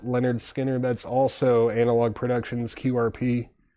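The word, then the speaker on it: Lynyrd Skynyrd: And then pronounced Leonard Skinner.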